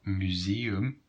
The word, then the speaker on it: museum: For example, museum comes from English. Well, museum, you don't see the two dots there, but yet we pronounce them separately.